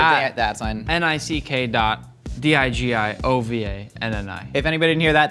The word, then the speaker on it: DiGiovanni: N-I-C-K dot D-I-G-I-O-V-A-N-N-I. If anybody didn't hear that, that's at N-I-C-K dot. Yeah. G-I-O-V-A-N-N-I, and it's pronounced DiGiovanni.